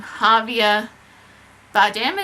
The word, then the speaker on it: Javier Bardem: can't pronounce his name, Javier Bardem, is that how you say his name? So I'm pretty sure you don't pronounce the J, but he's terrific in his role.